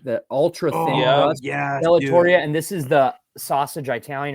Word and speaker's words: Bellatoria: couldn't I couldn't remember how to say it bellatoria it's like the ultra thing bellatoria and this is the sausage Italian or Italian